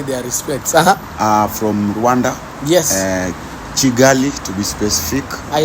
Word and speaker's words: Kigali: Kigali, guys, it's Kigali. Because in Rwanda, K is if it's K with an A. With an A, it depends on the vowel. Yeah. If it's K-I, it's like it's pronounced with CH.